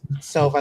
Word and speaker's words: Silva: Mine is an I, so it's Silva, like silver, like my hair.